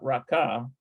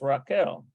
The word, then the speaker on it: רחל: It's Raquel, not Raka. No, it's Raquel. Rachel.